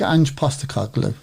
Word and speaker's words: Postecoglou: I really like Ange Postecoglou.